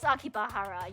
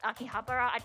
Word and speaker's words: Akihabara: Oh yeah, this basically is Akibahara. Yeah, cuz it's Akihabara. I I never know how to pronounce it cuz it's the electric corner.